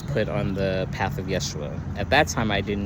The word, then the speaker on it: Yeshua: it's just you know Yeshua is the Hebrew uh pronunciation um and that path